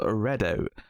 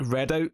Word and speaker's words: Redoubt: Well, see, I don't know, because I go to say it, and I feel like Redoubt just sounds better, but like because it is spelled with the B, like doubt.